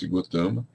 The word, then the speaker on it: Gautama: o Buda bom cotama escreve-se gautama pronuncia cotama era filho do rei